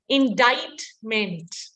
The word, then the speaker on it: indictment: The C is actually silent. It is indictment.